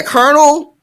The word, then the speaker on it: colonel: But yeah, colonel, what is it? COLONEL? Mm-hmm. What the fuck? That's nothing. Where's the R? Where's the R? That's all I want to know. Because I hear it. I sure hear it.